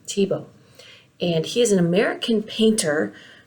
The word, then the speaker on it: Thiebaud: on the art of wayne tebow and that's how you say his name tebow and he's an american